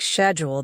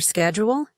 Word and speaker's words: schedule: I'd talk about my schedule," pronouncing it like schedule the British way. And people would gently correct me. You mean your schedule?